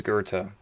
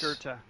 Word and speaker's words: Gerta: nature of the conversation like her name is Gerta.